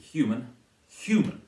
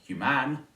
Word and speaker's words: human: And similarly human, not human, and faithless, and so on.